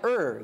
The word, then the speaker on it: Ur: Ur. U-R is how you spell it.